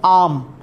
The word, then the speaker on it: arm: From आर्म, shoulder joint से लेके elbow तक का जो रीजन है इसे कहते हैं आर्म, ARM, आर्म। ठीक है, इसमें आर चुप है, बोले तो साइलेंट है।